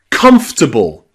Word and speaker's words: comfortable: Catholic and comfortable. This is my favorite one. Comfortable. Not comfortable, but comfortable. Comfortable. It's comfortable. Comfortable. The middle O is gone.